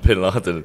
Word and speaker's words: Vin Laden: his name is Osama Vin Laden no but the V is pronounced like a B in Spanish so his name is AMA Bin Laden and listen to this